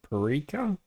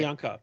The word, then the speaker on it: Priyanka: Uh, Parika? Parenka? this one that's good. Yeah. Look, pause here. Oh, Pause here. Priyanka.